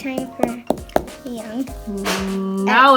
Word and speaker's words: 녕: nope it's not silent so this syllable is pronounced young young young can you hear it when you say annyong